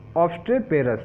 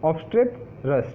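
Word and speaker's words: obstreperous: चलिए अब देखते हैं ऑब्स्ट्रेपेरस, ठीक है, ऑब्स्ट्रेपरस, ठीक है, ऑब्स्ट्रेपेरस नहीं, सॉरी पी ई के बाद ई साइलेंट है, थोड़ा मेरा प्रोनाउंसिएशन खराब है, ऑब्स्ट्रेपरस, ठीक है।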